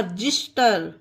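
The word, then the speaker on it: xyster: तरह से एक्स वाई एच टी ई आर जिस्टर क्या पढ़ेंगे इसे फ्रेंड जिस्टर एक्स को जा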